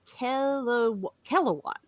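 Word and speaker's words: Kelewan: of the Sarani, and I mispronounced it one time already. It is Kelawan.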